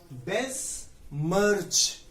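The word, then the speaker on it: besmirch: ये जो है इसको हम लोग कहते हैं बेस मर्च। देखिए उदाहरण, और जो उदाहरण अभी बताऊंगा, अभी तो पहले इसका उच्चारण समझ लीजिए।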